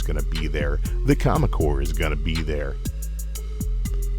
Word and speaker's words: Comic Corps: Promotional consideration paid for by the Comic Corps. Comic Corps rhymes with comic. Horse rhymes with Baltimore.